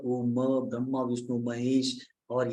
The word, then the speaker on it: ओम: और जब हम ओम का उच्चारण करते हैं तो अ उ म को अलग करके भी उच्चारण कर सकते हैं, या ओ ऐसे भी उच्चारण कर सकते हैं। अब यहाँ पर अगर आप साउथ में आ जाएंगे तो एक साउथ के बहुत बड़े स्पिरिचुअल मास्टर है, वो ओम को ओम नहीं कहते, वो आम कहते हैं।